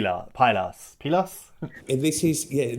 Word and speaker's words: Pylos: called Justice for p pilas pilas and this is yes the initiative is called Justice For Justice for pillos pillos is the way it's pronounced in Greek and and it's actually